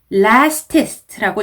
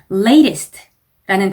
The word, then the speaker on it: latest: latest라는 단어가 출제가 되면 lastest라고 잘못 읽으시는 분들이 굉장히 많습니다. latest라는 단어 발음 연습해 가시고 avenue에서는 V 발음 신경 써서 V 이렇게 발음을 해주셔야 되고 parade라는 단어는요.